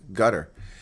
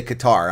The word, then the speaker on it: Qatar: People say Qatar. I used to say Qatar when I was younger, but it's guttar. So anyway, no, it's not the way Americans pronounce it. That's the way the Arabs pronounce it.